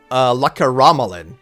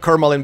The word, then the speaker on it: Lakaramalan: hear from the drone, the actual pronunciation is what I originally thought, which was Croatian logic to approach a name pronunciation, which is, in her case, Lakaramalan, which is literally every single letter pronounced as it's written there.